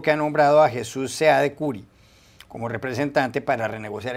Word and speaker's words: Seade: El señor Seade tiene, o Cid se pronunciaría también, pero el señor Seade